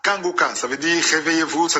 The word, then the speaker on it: Kanguka: j'informe de nouveau que Kangoka passe aussi sur YouTube.